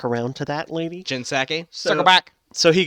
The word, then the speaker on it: Psaki: He goes, I thought it was Pasaki, or isn't it with a P? How do you spell it? It is with a P, but the P is silent like pterodactyl.